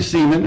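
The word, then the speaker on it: Semon: Larry Seaman comedies what's that you say Larry Seaman and that that is his correct name and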